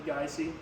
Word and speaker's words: Geise: eore uh gy often gets mispronounced as gee it's actually gy um which we got